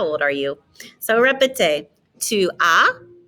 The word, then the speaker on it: tu as: Tu as, don't pronounce that S.